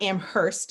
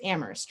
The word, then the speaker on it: Amherst: saying in amherst amherst where only the h is silent because it's not amherst it's amherst right so they made it